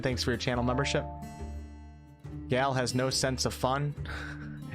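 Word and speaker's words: Gale: Gal, not Gel or Gall. Thanks, Milburn. Shout out to Milburn, guys. Hello, Rick Sanchez. Thanks for stopping in. Thanks for your channel membership. Gal has no sense of fun.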